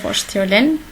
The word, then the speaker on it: vorstellen: On a dit que ST, il se prononce comme ch. Sich vorstellen.